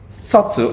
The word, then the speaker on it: subtle: I mean, why do we have the B there if we don't have to pronounce it in the first place?